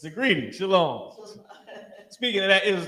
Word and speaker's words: shalom: just the it's just the ma is not pronounced heavily because of how you say how we speak how you how we say our words so shalom the oppressor also knows